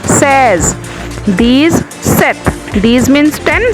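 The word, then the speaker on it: seize: 16 says, it's not a sees, says.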